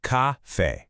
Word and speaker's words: café: In Portuguese, it's spelled c a f e with an accent, but phonetically, you say it like this, café.